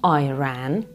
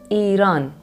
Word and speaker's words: Iran: my country is not an Apple product so please stop pronouncing it Iran Iran is what we call it Iran you can go Iran fair enough but Iran please don't good evening everyone